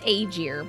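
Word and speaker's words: Aegir: good call house a which should be pronounced agier but we're going to go with it cuz AER sounds like AIS which is the shields anyway the house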